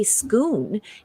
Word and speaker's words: Scone: think it was really cool that they say schoon in a part of scotland uh where um